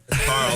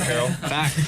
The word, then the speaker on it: Carl: correct Carl objection he said my last name wrong Carl not Carol that is fact that